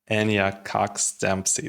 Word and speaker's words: Enya Cox Dempsey: Enya Cox Dempsey, that's how you pronounce it.